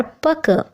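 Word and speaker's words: pucker: हैं पक पी यू सी के ई आर पक पाजामे की चूड़ियां पकस ऑफ पजामास बकर्स ऑफ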